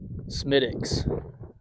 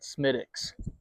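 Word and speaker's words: Smithwick's: Smidix. I know it's spelled Smith Wixs, but uh the Irish pronounce it Smidix.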